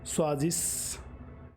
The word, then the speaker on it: choisissent: Il, elle choisissent. ENT will not be pronounced. It won't be that prominent.